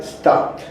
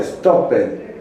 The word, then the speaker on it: stopped: Y cuando pronunciamos este verbo, en presente es stop, pero en pasado con este ed se pronuncia como si fuera T, stopped. Entonces, esa es una gran diferencia. No se pronuncia stopped, sino es stopped. Tiene que sonar la T al final.